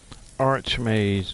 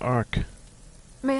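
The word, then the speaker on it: Arch-Mage: time here Ark Mage I can't believe people don't know how to pronounce art Arch maze not Arc may I just say it's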